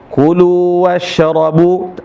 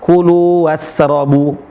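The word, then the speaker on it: كلوا واشربوا: Ini agak fatal teman-teman kadang baca kulu wasrobu. Cara bacanya adalah qulu wasrobu. Bukan was tapi wasrobu sya.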